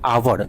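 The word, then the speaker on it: hour: देखिए आवर में हम देखते हैं तो एच है। तो एच आपका क्या है? कंसोनेंट है। लेकिन कंसोनेंट है लेकिन इसका जब आप उच्चारण करते हैं आवर। हिंदी में इसको सोचिए। लिखिए आवर। तो इसमें आपको ना यानी वोवेल की तरह फीलिंग वोवेल की तरह आता है आपका। इसीलिए इसमें एन का प्रयोग होता है।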